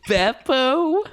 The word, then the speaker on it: Beppo: Now I know it's Beppo.